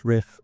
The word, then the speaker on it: Ryff: My pronunciation guide says Ryff, and as a guitarist, I think everything's a riff.